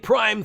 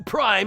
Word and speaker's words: Prime: Sonic Premier 2, Electric Bugaloo the return, and Sonic Prime 3. This time it's personal. So much so they changed the pronunciation to prime instead of prim.